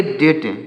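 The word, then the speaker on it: debt: बी टी इसे पढ़ेंगे डेट डी ई बी टी इसे डेप्ट नहीं डेट पढ़ेंगे यहां पर बी साइलेंट है इसे डेट पढ़ेंगे और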